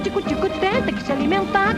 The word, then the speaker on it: Tico-Tico: Here, Carmen Miranda sings one of her hits, Tico Tico. It's actually pronounced Tico Tico.